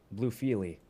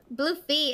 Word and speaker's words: BlueFille: first time playing with bluefiely how did you pronounce bluefiely i did the same thing she yelled at me for hours luffy blue feet it's french what are the l's for silence oh i'm a classy